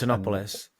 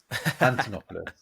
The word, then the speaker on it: Antonopoulos: Antonopoulos. Antonopoulos.